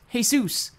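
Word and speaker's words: Jesús: lines is like Matthew it's pronounced hey soos hey Zeus in the Bible the birds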